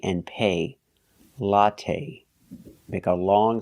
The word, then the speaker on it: latte: now let's talk about latte we say latte we don't say lat the last syllable is the long a it's not stressed but we use the long a like say and pay latte make a long sound